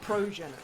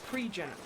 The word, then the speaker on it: progenitor: Isn't it progenitor? Progenital, rather. Didn't I say? You said pre-genital. You said it wrong.